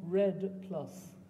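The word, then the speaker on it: REDD+: I said what so I'll tell you how it's spelled first r-e-d-d and then the plus sign obviously and the Redd is a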